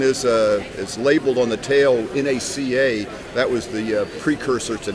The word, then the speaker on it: NACA: This one is labeled on the tail NACA. That was the precursor to NASA. They didn't pronounce it NACA. They did pronounce it NACA.